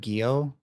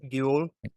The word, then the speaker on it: Gyo: Have you ever read Gyo? It's actually like an anthology of horror stories, but it's kind of centered around a main story. Gyo, I think is how you say it. Yeah. It's G. Gyo.